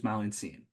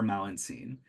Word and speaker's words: Malintzin: best way they could figure out how to pronounce it, which is Malintzin. Now, the Spaniards heard indigenous people calling her Malintzin, and they figured that must be her original name before she took the name Maria.